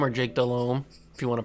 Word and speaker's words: Delhomme: Delhomme, or Jake Delhomme, if you want to pronounce it correctly.